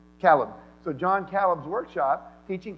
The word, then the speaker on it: Calub: Calub.